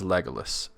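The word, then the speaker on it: Legolas: crazy because it's finin we had a discussion recently about legalis everybody says legalis and I said you know and and then Matt said lolus and I said you know Matt that's actually correct grammatically speaking lolus uh it should be legus but tolken said legalis so even he was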